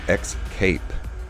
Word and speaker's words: Xcape: And it's Xerjoff Groove Xcape. Xcape, yeah. Kind of a funny use of the word escape, which is spelled E-S-C-A-P-E. What they're doing is putting a big X and then C-A-P-E, like Xcape.